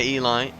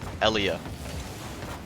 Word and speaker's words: Eli: Saved down by Eli. I remember the days when I used to call him Elia, which was not an accurate pronunciation.